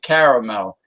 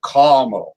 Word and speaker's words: caramel: I'm so happy you pronounce it caramel, and you don't say that wussy way of a caramel. Caramel. What the hell is a caramel? Caramel. It's spelled caramel, and I say caramel. Exactly. It has 3 syllables.